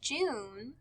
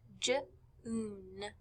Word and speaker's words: June: We can see in our character's name, June, it has a U and an E at the end. The E is silent, so it makes the U say its name. So we hear June, June.